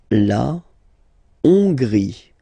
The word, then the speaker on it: Hongrie: La Hongrie. So remember, H doesn't exist, so you don't pronounce it. So it starts with O-N, on, and then gris. Final E, not pronounced.